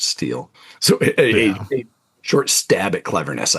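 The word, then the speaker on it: STIHL: St I HL that is pronounced steel.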